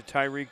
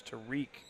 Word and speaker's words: Tariq: Foul's going to be charged to Tyreek Dixon. Keep calling him Tyreek. It's Tariq Dixon. I apologize to Mr. Dixon and his entire family for mispronouncing his name all weekend.